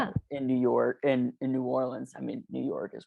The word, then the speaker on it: New Orleans: Like, what's it like being Jewish in New Orleans? Or New Orleans? So, how do you say it? New Orleans. Yeah. New Orleans is how the tourists say it.